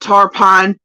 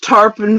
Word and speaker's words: Tarpon: He just called it Tarpine. It's Tarpon Valley.